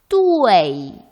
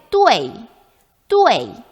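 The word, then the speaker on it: duì: 네, UEI를 표기할 때 E를 생략한다고 했습니다. 그래서 여기는 E가 아마 들어있는 발음을 해야 할 거예요. 그죠? 표기는 이렇게 하고 발음 어떻게 한다? 사성까지 넣어서 뚜웨이. 그렇죠? 빠르게 뚜웨이.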